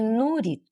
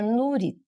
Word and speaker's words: Nurit: Meu nome é Nurit. É, se pronuncia Nurit. É, é Nurit. Isso. Às vezes eu já ouvi falar Nuri. É, é, parece sem o T.